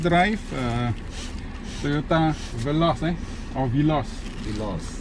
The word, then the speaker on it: Veloz: Veloz. Some people pronounce as Veloz, is it? Yeah. Oh, the real correct pronunciation is Veloz Yeah. not Veloz Okay. Dah dengar Veloz, bukan Veloz.